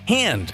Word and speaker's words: Han: much like how in the Star Wars films characters pronounce words differently for instance Lando says Han like hand instead of Han like Hans Gruber anyway there was a